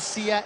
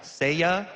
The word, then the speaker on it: Seiya: So I just got an update from a very studious Twitter follower that said it's pronounced Seiya, and it's from a Japanese anime that was broadcast in Mexico a long time ago.